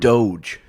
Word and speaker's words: Doge: Doge. So say Dodge, but not the next D.